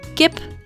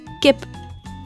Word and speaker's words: Kip: as in the word Gip which means Chicken in Dutch again same pronunciation as in English Gip or as in the